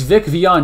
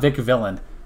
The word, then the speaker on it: Vic Vion: It's Vic Vion, not Vic Villain.